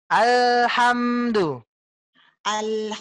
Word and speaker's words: alhamdulillah: biarkan dia mengalir bu bukan alhamdu lillah membaca bukan al-hamdu bagi kant tapi alhamdulillah mengalir Bu Alhamdulillah dia mengalir Buya coba Ibu Alhamdulillah dicoba Alhamdulillah ditekan body Tekan air tekan HAM tekan alhamdu lillah alhamdulillahirobbilalamin mobil about Bill